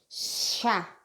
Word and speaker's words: chá: Eu leio chá. Chá. Então, CH, quando eu uso CH, ele tem um sonzinho para mim de X. É como se eu estivesse falando X com A, chá.